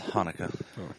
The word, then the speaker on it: Chanukah: It's Hanukkah. The original spelling is Chanukah. Yeah, I don't know the The difference. C is silent.